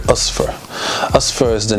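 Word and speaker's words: أصفر: same us for and i'm pronouncing it in its arabic package that's how it's pronounced in arabic osfar us first the name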